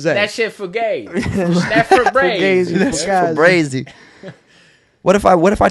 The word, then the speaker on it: Febreze: There's only one E in the end of Febreze. Yeah, I was looking at that too. Febreze. That one got that me. Shit was spelled like Breeze, like B-R-E-E. Yeah, I thought. That's what I thought. It's like it's got to be Breeze, nope. Like that. It's like Febreze now.